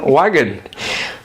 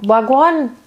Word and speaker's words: Wagwan: Wagon. Wagon. Wagon. No. Wagwan. Wagwan. That's how you say it.